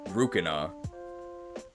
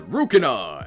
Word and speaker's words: Rukina: Although in Japanese it's actually Rukina with an R and a hard C. I don't know why, but if you play Japanese Smash Brothers, the announcer says Rukina, and that is what she's called apparently.